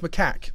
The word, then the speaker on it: macaque: I think it's not pronounced macaque.